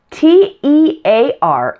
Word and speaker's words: tear: here tear and tear te AR in this case is tear like in crying like you have tears there is another word